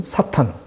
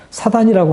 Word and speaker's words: 사탄: 가장 뚜렷하게 드러나는 것은 사탄. 사단이라고 하는 것은 좀 발음상 그렇게 사단이라고 하는데 히브리어로는 사탄입니다.